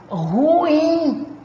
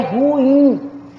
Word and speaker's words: ruim: Eu falo ruim. Olha, gente, é ruim. Isso aqui é uma palavra oxítona. Sílaba tônica é a última. É ruim. Então, eu tenho que ter no mínimo 2 sílabas.